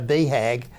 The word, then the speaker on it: BHAG: viewers what that means well it's basically pronounced uh beehag and it was uh